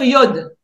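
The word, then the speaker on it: יוד: pour moi il faudrait on devrait plutôt dire iode Adonaï que yad Adonaï d'accord ça c'est une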